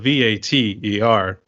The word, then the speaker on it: Vater: it's because it's spelled Vater. But whenever people were saying it, I thought they were doing it with like Darth Vader, for instance.